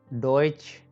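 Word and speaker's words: Deutsch: Okay, next E यू या अ यू, इसका pronunciation होता है ओए। Noyan, so by spell Noyan. Okay, तो ई U, Noyan, डॉइच, डॉइच, डी ओए च, डॉइच।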